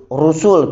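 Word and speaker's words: رُسُل: Ar-rusulu, rusul kita bacanya, rusul pendek.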